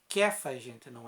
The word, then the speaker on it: Cefas: de Jonas tu serás chamado cefas é que faz a gente não é cê faz não é que faz